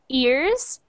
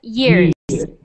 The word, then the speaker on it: years: So, oh, Nandre, you said you say it like ears. Yeah, ears. So be careful. It has to sound like that yeah sound. Yeah. Yeah. Yeah. Years.